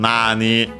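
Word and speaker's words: 何: Uh then says Nanda literally what is it from Nani? Uh um interpretive pronoun which means what accent on the N.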